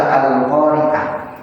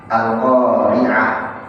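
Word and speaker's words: القارعة: Al-Qari'ah padahal pakai ain, bukan pakai hamzah.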